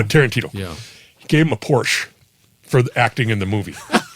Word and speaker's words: Porsche: how he got paid here's a Porsche porsa I'm sorry you have to say it right it's a Porsche yeah Porsche Porsche yeah